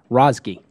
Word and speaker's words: Razeghi: You're going to have to pronounce it. Razeghi.